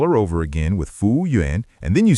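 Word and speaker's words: 服务员: And the button is the word fúwùyuán." Fúwùyuán. Fúwùyuán. Yeah, three syllables. Fú is to serve, wù is task or duty, yuán is person.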